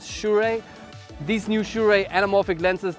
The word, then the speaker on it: Sirui: shure and you know many youtubers have been struggling to pronounce these this name but i checked with them they sent me an audio recording is shurey these new shure anamorphic